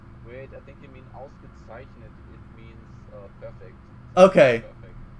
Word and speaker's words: ausgezeichnet: You have to practice the German Z. It's like Z.